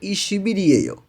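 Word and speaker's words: 이십일이에요: হচ্ছে 20, ই রিয়েও, এখানে উচ্চারণটা হয়ে যাবে ই শিবি রিয়েও, অর্থাৎ 20 তারিখ।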